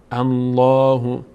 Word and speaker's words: الله: فتحه می‌گیره الف و وقتی هم که الفتح می‌گیره اینجا پر خونده میشه اینجا پر خونده میشه میشه الله اللهیستهزئ بهم بهم بهم